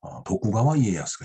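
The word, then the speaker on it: 徳川家康: 그 다음에 이제 이 밑으로 보면 도쿠가와 이에야스가 있네요. 우리말로 덕천가광입니다. 덕을 도쿠라고 이제 음독을 하죠. 그 다음에 내천자를 가와라고 합니다. 그 다음에 집가자를 이에라고 읽죠. 강을 야스라고 읽네요.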